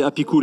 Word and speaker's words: Apicool: Voilà, bravo donc à Apicool, bien prononcé Apicool et non pas à la française, sinon ça fait un peu apéritif.